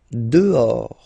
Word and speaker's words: dehors: Dehors. Okay, so remember final S not pronounced, and then this H in French doesn't exist phonetically, so you don't pronounce it.